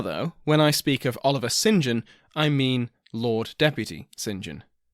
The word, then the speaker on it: Oliver St John: present as an MP Oliver St John or Oliver singen as it is apparently pronounced this Oliver singen was